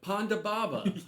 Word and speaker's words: Ponda Baba: these are CPAP machines Ponda Ponda sounds like you're just like mispronouncing Panda Ponda Baba okay so I was pretty